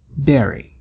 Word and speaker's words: bury: verbo Barry enterrar rima com Carry e Mary pronunciar bury ouy é incorreto berry berry também temos a união do T em